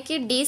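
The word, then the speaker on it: could: अब देखो यहाँ पे लिखा हुआ सी ओ यू एल डी, यानी कि डी से पहले हमारा एल आ रहा है तो हमारा एल साइलेंट होगा, तो इसको पढ़ेंगे कुड, वुड, शुड।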